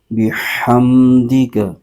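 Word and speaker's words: بِحَمْدِكَ: کے ساتھ ملائیں گے، دال کے نیچے زیر ہے اور کا پر زبر ہے، اس کو بغیر کھینچے پڑھیں گے، ہجے یوں کریں گے، با زیر بی، ہا میم زبر ہم، بحم، دال زیر دی، بحمدی، کاف زبر کا، بحمدک، ونقدس لک، واو پر زبر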